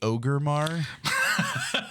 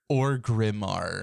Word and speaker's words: Orgrimmar: Tom and he's like did you just say Ogar and then you're like oh yeah I've called that that since vanilla is that not what it's called yeah and he's like it's Orgrimmar I mean okay look at the letters okay it's it's pronounced the way it's written and I'm like [